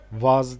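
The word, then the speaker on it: وضع: Vav, dat, ayın, vaz diye okunuyor.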